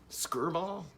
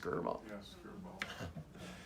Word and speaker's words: Skirball: gosh my shirts untucked Skirball two syllables Skirball so they created this